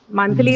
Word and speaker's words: monthly: fillable right first syllable so monthly is a word which can be used as adjective adverb and noun but all the three class categories they take the stress on the first syllable so no issues you